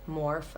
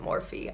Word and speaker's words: Morphe: think in another video I pronounced this wrong I think it's morph I think I called it morphe I realized I did that the other day this is just a